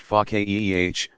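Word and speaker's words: faqih: such a scholar is pakya pronounced FACA eeh one who understands deeply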